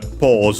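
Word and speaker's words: ポーズ: Yes, it's accented just like in English, so on the first syllable pause.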